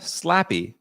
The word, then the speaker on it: Slappy: It is Melissa Slappy. And she wrote, yes, it's pronounced exactly like you would think.